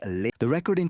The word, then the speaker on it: Lynyrd Skynyrd: Soon after the band dropped their debut album, Pronounced Leh-Nerd Skin-Nerd, produced hits that became absolute rock classics like